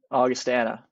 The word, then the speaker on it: Augustana: But Ryan Naumovski, 4 years at Niagara, 1 year now at Augustana. Is that how you say it? Augustana.